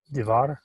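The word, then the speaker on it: דבר: Okay, just the pronunciation of that word right there. Divar. Divar, right. It's not Diver Adonai, like the Lord spoke, but the word of the Lord.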